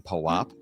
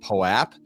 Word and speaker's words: POAP: Is there, in fact, an approved, correct, received pronunciation of POAP? So we try not to be too dogmatic about the thing. I think Poh-wop at some level belongs to everyone. Poh-wop and Poh-app are both fine.